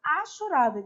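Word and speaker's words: hachurada: Primeiro, eu vou colocar o exemplo e depois a gente vai fazer uma área achurada, que não existe rachurada, tá? Porque no português o H não é pronunciado.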